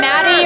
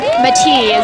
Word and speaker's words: Matti: Yeah, we'll call him Maddie or Matti, you know, if we were in Finland. But, Matti, yeah.